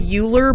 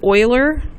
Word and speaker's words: Euler: I know it looks like Euler, but it's not. You pronounce it Euler.